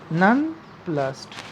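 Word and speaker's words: nonplus: Answer, the correct order of the sentence is a novice might be none plus. The poet wrote it in order to bring rhyme to her poem. None plus rhymes with thus.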